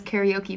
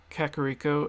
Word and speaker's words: Kakariko: quite correct and like my mom mispronounces that and says karaoke village for anyone who doesn't know karaoke village kakariko and kokiri uh corcorico